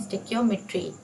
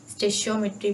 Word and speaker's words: Stoichiometry: और इसका नाम है स्टिक्योमेट्री। आप इसको किसी तरह से भी प्रोनाउंस कर सकते हो, स्टिक्योमेट्री, स्टिशियोमेट्री पहले बोला जाता था। मैं स्टिक्योमेट्री इसको कहती हूँ, आप स्टिशियोमेट्री कह सकते हो, जो भी आपको विजिबल है।